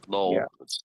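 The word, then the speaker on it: knoll: She just go to Bluff Null. Spelled K N O L L. Silent K.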